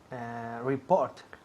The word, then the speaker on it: report: Report. Repeat. Report. Muy bien. Report. Report. El énfasis cae en la segunda sílaba. Report. Report. Y aquí a escuchar la T al final.